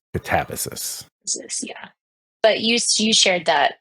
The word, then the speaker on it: Katabasis: There's so many different pronunciations out there of it, but I think the way R.F. Kuang pronounces is Katabasis.